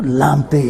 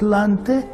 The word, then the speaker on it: Lante: We say Lamte. There's no Lamte in Ghana, it's Lante.